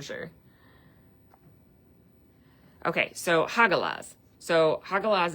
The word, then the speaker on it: Hagalaz: So, hagalaz is literally pronounced ha like laughing. Haha. Ha. And then ga g a and then las. L a h.